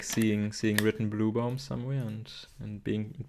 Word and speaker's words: Blübaum: it's not even UE, it's the letter Ü with like, it's a U with 2 dots, which like actually more or less like for people in Germany it sounds like blossoming tree and not blue tree.